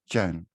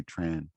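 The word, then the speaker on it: Trần: i wonder in the in the south it's it's pronounced chan and the north is pronounced chen is slightly different but i think when you go to english-speaking catholic they say tran yes yes oh okay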